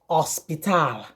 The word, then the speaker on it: hospital: the english word h in spanish is usually silent in all cases so when you see